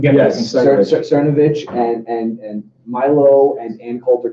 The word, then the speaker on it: Cernovich: Yes, Cernovich and Milo and Ann Coulter can even exist in this world, right?